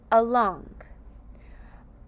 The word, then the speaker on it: along: Along has two syllables. A long a long uh again is the sound of that schwa but it's spelled with a a long being l a and that you hear at the end is the ng diagraph.